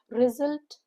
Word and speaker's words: result: The stress is on the second syllable salt. S U L T. S U makes the Z sound or the Z sound. Result. R I. It's not E. Here is the short vo.